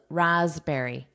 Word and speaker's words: raspberry: This S is pronounced as an S, not an SH, but it's voiced. So it's zzz more of a zzz a Z sound. This is the IPA and notice phonetically it's with that voiced S which is zzz raspberry raspberry And then the plural raspberries.